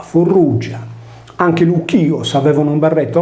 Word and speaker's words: Frigia: del sole nella regione della friggia pronunciata Fur Ruggia anche l'ios avevano un